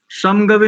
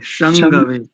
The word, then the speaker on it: शंगवे: और समगवे, जी, समगवे नहीं करेंगे, संगवे। शम शंगवे शं हाँ, शंगवे और शंगवे ठीक।